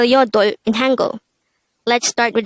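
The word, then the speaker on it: 여덟: pronounce it with me how do we spell yodo in tango let's start with the first syllable to be able to write this we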